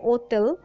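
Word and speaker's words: hôtel: উচ্চারণ যে স্নাসিয় বা হোটেলকে উচ্চারণ করা হয় ওতেল তা কেউ না বলে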